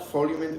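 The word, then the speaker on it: Feemint: do you spell that F mint like the fee and mint like f mint like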